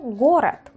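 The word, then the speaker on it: город: Vemos aquí leche o gorat. Gorat. Gorat, que tiene la a.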